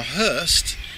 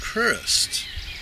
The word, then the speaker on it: Crowhurst: Now, Hurst in those days was pronounced Crurst by the locals, who never pronounced the crow, and to a foreign ear it just sounded like Hurst.